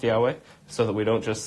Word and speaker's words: Yahweh: pronounce it and proving that it actually is pronounced Yahweh so that we don't just say people argue